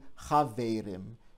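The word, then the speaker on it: חבֿרים: And we've got die Chaverim. Notice that the vowel changes from an E to an A, and the stress moves from the first syllable to the second syllable.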